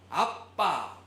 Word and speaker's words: 아빠: 우리의 기도의 대상이 아버지예요.이 아버지에 해당되는 헬라어가 파테르라는 단어인데이 단어는 아라머 아빠 예 발음 우리나라 아빠하고 비슷하죠.